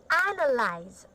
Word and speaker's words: analyze: Milestone, complexity, estimate, analyze, Okay, so can you say analyze? analyze, Analyze. analyze, Okay, correct. Basically, the stressed syllable is like ana, and analyze.